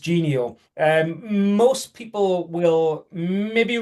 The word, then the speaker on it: Genio: So, we are actually Gio, pronounced Gio.